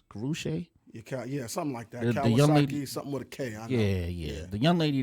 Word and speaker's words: Karrueche: back this young lady seems to be Karrueche is that how you say her name Gucci or whatever name is guru Shay yeah yeah the young